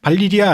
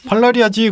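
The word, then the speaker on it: Valyria: 방송을 들은 후배가 와서 형 그런데 발리리아 아니에요? 라고 얘기를 하는 거예요. 아니 이 무식한 놈아 발리리아가 말이 되냐 발음도 이상하고 발라리아지 그리고 책을 이렇게 펼쳐 발리리아인 거예요.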